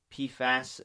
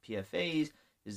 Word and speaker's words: PFAS: pans in the news I've heard it being pronounced pee fast as well as PFA is there correct way to actually say that Crenn um so it depends on the person but the acronym is PFA s so some people